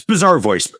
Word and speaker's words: Bazaarvoice: Yes, it's Bizarre Voice. like bazaar, like a shopping bazaar.